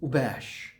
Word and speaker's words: abash: Abash but the pronunciation is ubash.